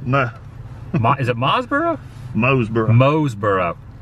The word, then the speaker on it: Mooresboro: locals pronounce it mose now i would say mooresboro but the locals say moseboro with a z and got the town hall